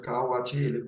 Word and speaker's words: Kohl: Después ya vino un maquillaje, prácticamente se considera ya un maquillaje o un cosmético aplicado frecuentemente, era el maquillaje Kohl, así se pronuncia K-O-H-L, Kohl, registrado de 3.100 años